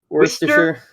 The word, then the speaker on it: Worcester: Worcester. Like you don't know how to, like you're saying rooster, but you can't say your R's.